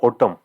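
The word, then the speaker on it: autumn: गिरती है हम बोलते ऑटम है ना वसंत ऋतु है ऑटम एन साइलेंट रहता है बच्चों हमेशा ध्यान रखिएगा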